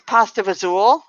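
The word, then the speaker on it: pasta e fagioli: used to make and the sound is pasta fazool but the spelling is so different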